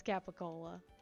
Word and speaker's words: capicola: into a deli and ask for Capa go it's capicola but it's gobble go if you want want me to say it like New York or New Jersey got will go yes